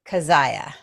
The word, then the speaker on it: Kezhaya: And Kezhaya.